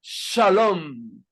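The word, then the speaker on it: שלום: una una traducción burda sonaría shalam shalam si me explicó si te suena Precisamente en hebreo se pronuncia shalom que significa paz y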